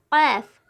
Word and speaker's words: ق: کرتے ہیں، غین، غین۔ ساتواں حرف ہے قاف قاف یہ حرف حلق سے نکلتا ہے اور بہت موٹا تلفظ ہوتا ہے. قاف جب ہم کاف کو ادا کریں گے تو حلق سے ادا کریں گے.